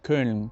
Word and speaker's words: Köln: Y con la E es igual, Köln, por ejemplo, ¿no? Correcto. Por ejemplo, puedes decir la letra O y dices una E. Claro, formas la O con la boca, O, pero dices la E.